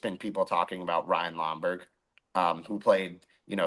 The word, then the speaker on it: Lomberg: the announcer at ESPN he's saying lomborg Lomar uh so the whole broadcast for ESPN was I no idea how it is that hard to pronounce Ryan lomber it is not that